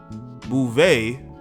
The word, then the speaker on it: Beauvais: And she was on a podcast from Garcelle Beauvais. That's how you pronounce her last name.